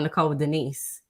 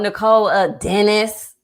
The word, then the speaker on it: Nicole Denise: i've had i've had people say my name wrong on purpose mind you like because there ain't nothing hard about nicole denise right um but i've had people oh nicole dennis i you know i've